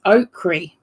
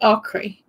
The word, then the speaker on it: okra: the correct pronunciation is okri okri okri I probably butcher that I'm sorry it's made fun of us of as a Southern accent but the Africans actually pronounce it okri okay cool I didn't